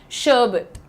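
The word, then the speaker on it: sherbet: शर्बिट। शर्बिट ये अंग्रेजों की निशानी है भाई। वो शर और र को अक्सर साइलेंट कर देते हैं।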